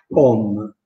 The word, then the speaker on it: om: Perché leggo un una volta u e una volta o? Perché scrivo on e avevo detto che la o si legge u, mentre la o di om, un om, la o di om ha l'accento grave. Allora, trovandoci l'accento grave, noi quella o lì dobbiamo pronunciarla o.